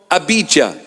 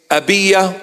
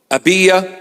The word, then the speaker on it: Abijah: from the division of abijah or the proper pronunciation is abya or Aya abya or Aya and one